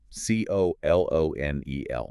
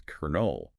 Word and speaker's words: colonel: C-O-L-O-N-E-L. Right. It looks like it should be colonel. Logically, yes. But because of centuries of sound changes, the actual pronunciation is kernel. Like a corn kernel.